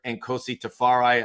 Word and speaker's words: Nkosi Tafari: And today we are joined by LFC defender and Kosi Tafari, a gentleman that they had a season ending award with most interesting dude in the league.